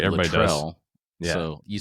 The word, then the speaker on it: Luttrell: I just realized I pronounced your name wrong up front. That's all right. I said Everybody does. Luttrell.